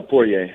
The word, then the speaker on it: Poirier: it we I got heard two different versions of your last name pu or poier how do you how do you prefer pronounced uh poier it is I thought so okay Chris producer was telling us po I'm like no the r is not silent okay man so you're